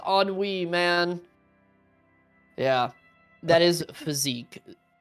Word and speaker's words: ennui: Dude, well, you probably have never seen that word before, but it's pronounced ennui, man.